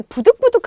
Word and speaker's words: 부득부득: 쓰고요 자 그 다음에 부득부득 하면은 뭔가 마구 인기있는 의미에요 자 그런데 정리가 발음할 때 부득 부득 이라고 정확하게 하지 않는 경우가 많아요 그러다 보니까 부족 부두 카고 헷갈릴 수 있거든요 자 그런데 이미 부득부득